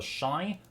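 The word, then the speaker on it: Shai: Black Desert Online has a character called the Shy, which is spelled S-H-A-I.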